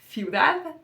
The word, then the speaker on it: ciudad: So it's important to know that this th and thi are pronounced like a th in English in all of northern Spain. So it's going to be ciudad and centro.